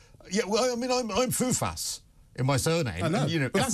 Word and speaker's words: Fufas: And, but see, at least that's phonetic. So you say Fufas, you always think it's spelled F-O-U-F-A-S. No, people think it's spelled F-O-O-F-A-S. Because Fufas. They always say, Foulfas. I say, no, Fufas.